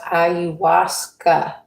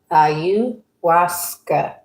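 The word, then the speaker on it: ayahuasca: This is pronounced Auasa. Auasa.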